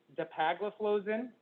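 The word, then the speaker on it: dapagliflozin: to be talking about the sglt2 inhibitors are dipagliflozin which is farsiga empagliflozin which is uh giardians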